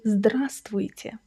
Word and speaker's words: Здравствуйте: That "в" in the middle is silent. You don't say Здравствуйте. You say Здравствуйте. Drop that "в" and you will instantly sound more natural.